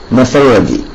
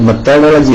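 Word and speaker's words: methodology: the fifth one ഈസ് മെത്തഡോളജി അത് മെത്തേഡോളജി എന്നല്ല മെത്തഡോളജി എന്നാണ് അസ് എന്നത് നമ്മുടെ അറബി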